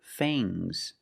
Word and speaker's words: fangs: Use a long a plus the nasal sound and a soft g. Fangs. Fangs. And the s is making a zebra sound. Z, but it's soft.